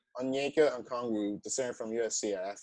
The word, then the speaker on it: Onyeka Okongwu: How do you pronounce his name? Onyeka Okongwu. Onyeka Okongwu, the center from USC.